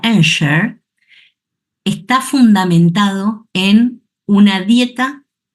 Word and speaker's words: Ensure: qué Porque lo que Nosotros llamamos ensure que en realidad su pronunciación correcta sería ener está fundamentado en una